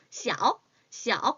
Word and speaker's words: 小: 작다는 small, 小 꼭 이렇게 읽어주셔야 돼요. 적다는요 少多少大小 이렇게 읽어주셔야 합니다.